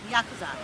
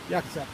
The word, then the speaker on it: Yakuza: Now, how do you pronounce the mob over there? Yakuza. Yakuza.